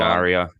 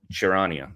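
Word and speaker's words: Charania: I think it's James Bond, Shanaria. Sharania. Sharania, thank you.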